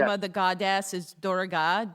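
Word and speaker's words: Durga: the podcast but it um it's om is pronounced like d u u m correct the name of the goddess is dorga d u r g a dorg is the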